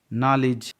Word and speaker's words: know: नॉलेज, KNO, नॉलेज मतलब ज्ञान, के के बाद N है तो के साइलेंट है। नॉलेज।